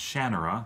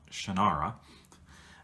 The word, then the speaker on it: Shannara: earth Terry Brooks world genre and it is pronounced Shannara that's how he pronounces it not it's not Shannara he he sets this in the future and